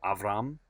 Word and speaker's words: Avram: the name Abraham or Abram or Avram if you're using the Hebrew pronunciation.